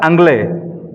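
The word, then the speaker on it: Anglais: As regards the prefix angla, viewers may note that the French still call the English by their ancient Sanskrit name Angl pronounced as Anglay that the Sanskrit name Angla was the original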